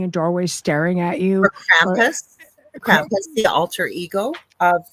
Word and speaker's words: Krampus: And he says, "You over in North America, you don't say it correctly. It's Krampus."